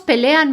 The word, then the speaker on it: pelean: Note that most of the present tense forms will stress the syllable le. So, for example, my friends fight a lot. Mis amigos pelean mucho.